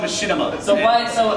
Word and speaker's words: Machinima: No, it's called Machinima. So why? So how did this pronunciation?